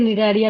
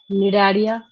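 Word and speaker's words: Cnidaria: भी लिख सकते हैं, निडारिया भी उसी को बोलते हैं, सी साइलेंट होता है यहाँ पे। निडारिया, टीनोफोरा, उसके बाद प्लेटीहेलमिंथस।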